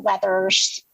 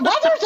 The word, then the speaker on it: Withers: It is "Lean on Me" by Bill Withers. Oh, is it Weathers or Withers? How do you pronounce his last name? I'd say Withers.